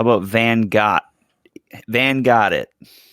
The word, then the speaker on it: Gogh: cranner how about van got van got it like Van Gogh and Ben wind Ben went Vincent van went you know I think his name is actually pronounced Guff not go yeah yeah oh well